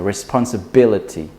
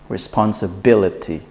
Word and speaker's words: responsibility: So we want to put the stress in the B. So responsibility, responsibility.